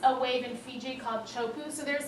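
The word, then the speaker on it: Teahupo'o: this is a really famous Wave It's called chopu I don't even know how that comes out of teahupo but that's how you pronounce it and this picture is pretty much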